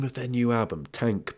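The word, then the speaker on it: TANGK: of their new album tank but with a it's spelled like t a n g k but what's the other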